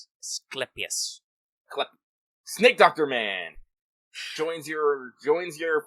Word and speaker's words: Asclepius: I knew how to say this. What? I said hard C. Yeah. Clepsius. Asclepius.